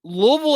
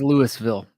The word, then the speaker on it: Louisville: right I didn't pronounce Louisville home of the Sluggers it's Louisville like like many people say like you have to say it like you have marbles in your mouth but you know that